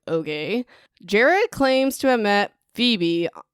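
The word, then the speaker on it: Gerard: enemies so now jared now it's spelled g-e-r-a-r-d jared okay jerry claims to have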